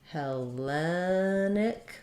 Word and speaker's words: Hellenic: second to last syllable so for Hellenic stressed here and hellenis stick stressed here um so that's not